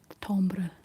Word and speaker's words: timbre: Um timbre, is that the word? It's spelled t i m b r e.